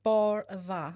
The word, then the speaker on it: Bardha: We actually get to pronounce it properly. Yes. Yeah, it's Bardha.